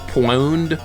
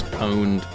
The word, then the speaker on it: pwned: I did I thought for a while it pronounced poned like PW but it's pwned it is but for a while I was